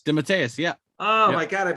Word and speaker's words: DeMatteis: So I never knew how to pronounce his name. It's James DeMatteis. DeMatteis, yeah.